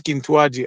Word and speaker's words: Kintuadi: travers donc la prononciation lorsqu'on dit Kintuadi on a tendance à un peu insister sur le a et donc ça symbolise